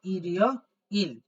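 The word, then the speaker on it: 일요일: দেখেন আছে ঠিক আছে তাইলে এখানে মূলত উচ্চারণটা হবে ইরিও ইল ইরিও ইল ইরিও ইল এই ইরিও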